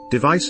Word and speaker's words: device: On the hand, device is stressed on the second syllable, so the vowel in